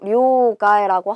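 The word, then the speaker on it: 両替: 그런데 요거 둘 양자는 료라고 읽고요. 얘는 원래 카에르라는 동사예요. 바꾸다, 교체하다인데 명사로 사용할 때 루를 빼주고요. 그리고 앞에 단어가 나오고 뒤에 단어에 타금 붙어서 료가에 요렇게 읽게 된다.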